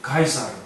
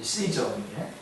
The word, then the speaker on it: 카이사르: 대표적인 사람이 로마의 율리우스 카이사르, 우리가 영어식으로 발음하면 시저인데, 시저는 양아들처럼 여겼던 브루투스의 칼에 죽임을 당하면서 그 유명한 말을 했죠.